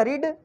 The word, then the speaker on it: read: रीड, spelling एक जैसी है लेकिन इसकी जो साउंड है यहाँ पे थोड़ी चेंज हो जाती है। रीड, रेड, रेड, ठीक है ना। इसको रेड पढ़ते हैं, रेड एंड लाल नहीं